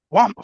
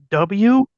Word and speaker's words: Wumpa: Oh, guampa. What the fuck is that? Okay, let me spell it for you because you still didn't say it the right way. Wumpa.